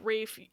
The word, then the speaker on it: Ralph: people on the Internet it's how Rafe it's how Ralph used to be pronounced but then the L start to be pronounced I know something about the language shifting that I'm not smart enough to understand the rafe pronunciation apparently survived due to Upper class famili in Southern England he do be British